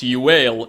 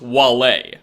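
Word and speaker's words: Uaile: This girl's name is not pronounced Yuale, it's pronounced Wale.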